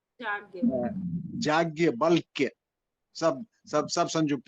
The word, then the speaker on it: याज्ञवल्क्य: और याज्ञवल्क्य बोलते हैं, नाम थोड़ा सा संस्कृत में ऐसा है कि उच्चारण में दिक्कत हो जाती है। याज्ञवल्क्य, याज्ञवल्क्य सब सब सब संयुक्त है।